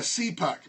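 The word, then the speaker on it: CPUQ: I'll hope that you write these down a see puck pronounced see poxy p uq cpu q so what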